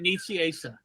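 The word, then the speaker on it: Nicieza: is it Fabian Knight Sai and I said Nita and he said and is it Bill Sienko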